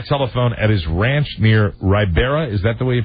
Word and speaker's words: Ribera: Reached by telephone at his ranch near Ribera. Is that the way you pronounce that? Ribera, New Mexico? Ribera, yes.